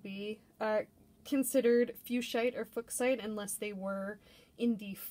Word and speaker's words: fuchsite: so it is absolutely more typically pronounced fuchsite with a long u and a long eye however the mineral is